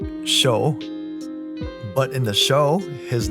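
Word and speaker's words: Chaud: ways to say this it's spelled c-h-a-u-d it's supposed to sound like show but in the show his name is pronounced as Chad I know it sounds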